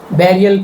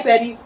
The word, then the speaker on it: bury: The word is bury. Bury. Burial place, burial ground, burial ceremony, burial rituals. So bury. Now you might ask me why Barry I want to speak like Buru or Buri who stops you?